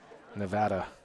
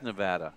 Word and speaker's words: Nevada: That's the first time you're going to hear me say Nevada the right way, at least the local way. No, it is Nevada. It is Nevada, correct. Yes, yeah. That's what the locals say.